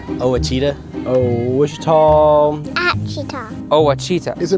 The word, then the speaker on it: Ouachita: How would you pronounce it? Ouachita. Ouachita. It's Ouachita Baptist University. Get it right. It's Ouachita people.